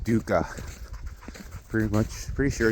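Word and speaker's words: dukkha: Um it's called Dooka. Pretty much pretty sure it's spelled D U K K A H, but I'm not 100% sure.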